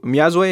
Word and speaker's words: Myazwe: So how's, the first time I heard of you, Myazwe is how you pronounce the name?